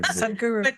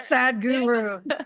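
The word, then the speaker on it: Sadhguru: guy too or something you say his name like it's two different names sad Guru how do you say it well sad Guru s Guru it's not a sad Guru right he's not a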